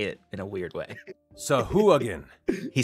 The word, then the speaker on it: Sahuagin: On D&D Beyond, there is like a pronunciation button that will say it for you. Sahuagin. And also, I think Matthew Mercer voices it because I just clicked on it, and it actually said Sahuagin.